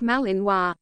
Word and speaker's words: Malinois: confident and smart the Belgian Malinois which is pronounced Malinois is a medium-sized Belgian shepherd dog you'll agree